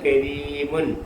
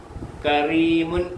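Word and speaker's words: كريم: ഫരിഹ ഫരിഹ ഫരിഹ ഫരിഹ കരീമുൻ കരീമുൻ കറീമുൻ എന്ന് വായിക്കത്തില്ല കറീമുൻ എന്ന് വായിക്കത്തില്ല കരീമുൻ കരീമുൻ.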